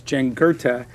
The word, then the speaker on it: Jen Goethe: So Jen Goethe, I said it wrong before, I said Greta, it's Jen Goethe, has the same question that I was asking about, which is mobile.